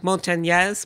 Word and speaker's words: Montanez: So when he first moved up here and I first got married to him, I would pronounce it properly, which is Montanez.